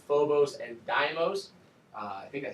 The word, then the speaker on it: Deimos: the naming there and it is pronounced Deimos with a long e sound let's see yeah actually